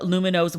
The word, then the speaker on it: Lumineux: You'll love Lumino's whitening.